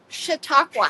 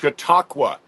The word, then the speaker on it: Chautauqua: Chautauqua. Chautauqua.